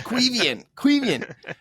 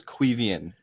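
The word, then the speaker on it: Caoimhín: yes, thank you to everyone who's been like, bro, it's Quevian.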